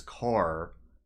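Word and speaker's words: Kerr: e r and then the other one that drives me crazy is car spelled k r r so I did want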